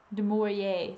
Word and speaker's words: Du Maurier: Du Maurier.